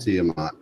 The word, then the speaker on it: Tiamat: tell you about Operation Tiamat? I don't know if I'm even saying that right. I like anything that revolves around Tiamat. Okay, I am saying it right.